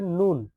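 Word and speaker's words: نون: এরপরে নুন নুন উচ্চারণ করার বেলা কোন কঠিন কিছু নাই।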